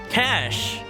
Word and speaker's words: cache: Cash. As a programmer, I cannot forgive myself if I ever pronounce that one wrong.